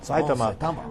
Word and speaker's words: Saitama: was off the charts and saitama as that's how we pronounce it saitama was just amazing 20,000